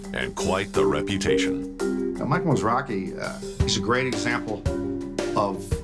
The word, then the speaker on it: Mizrachi: Pronunciation is actually it's Hebrew. Most people think it's Mizrachi, but it's Mizrachi.